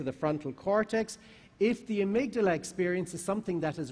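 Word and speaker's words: amygdala: y g d a l a so let's pronounce it it's the amydala and it's in which system the limbic system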